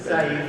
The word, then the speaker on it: Said: So I have with me Dakor, Joseph, Nikita, Said. Can you please help me with the pronunciation of the name, please? Come in, please. Okay, you can say Said. Said and Tolani.